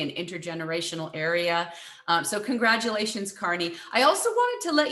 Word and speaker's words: Kearney: mispronounced new jersey town so that i would not mispronounce your name as kearney um if however i